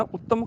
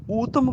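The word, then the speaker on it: ਊਤਮ: उत्तम दी नहीं कहना, उत्तम करमान नहीं, ऊतम करमान, उत्तम की बजाय ऊतम, नाम जपत पावें विश्राम,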